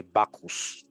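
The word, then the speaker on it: Bacchus: that calls for notice must be pronounced a bakus uh-oh and it is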